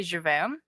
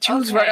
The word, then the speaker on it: Jules Verne: Did you say Javin? I don't know how Americans pronounce it. I'm so sorry. 20,000 Leagues Under the Sea. Yeah. And he wrote all of Jules Verne. Jules Verne.